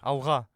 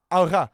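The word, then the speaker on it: Алға: Alga. Alga.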